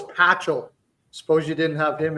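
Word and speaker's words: Pachal: flam nice any chance super what no it's patchel suppose you didn't have him in there who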